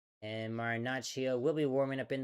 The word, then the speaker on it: Marinaccio: And Marinaccio will be warming up in the Pirates bullpen.